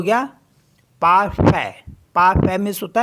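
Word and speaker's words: parfait: तो ये हो गया पाफ पाफ मीस होता है परफेक्ट तो जहां पे ए आई होगा उसको पढ़ते हैं ए एस ई आई के लिए भी हम बोलेंगे ए जैसे पी ई आई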